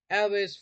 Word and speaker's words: Alvis: any more in the future but thank you Elvis for being I don't know if I pronounced your name right thank you yeah that's